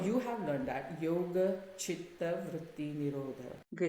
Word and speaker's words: chitta: And if you mispronounce it is yoga chitta vritti nirodha and chitta Changes the meaning. means fire, where you're actually burning the dead body, right?